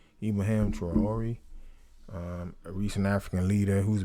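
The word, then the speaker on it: Traoré: Ibrahim Touram, how you pronounce his name? Ibrahim Traore, a recent African leader who's been making noise and trending.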